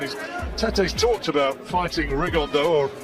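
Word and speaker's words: Rigondeaux: T's talked about fighting riondo or as he's correctly pronounced with the uh Spanish accent rig On Da and two absent Geniuses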